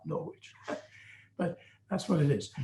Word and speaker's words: Norwich: Of course, both of us having been born in England, we would want to pronounce that Norwich, not Norwich, but that's what it is.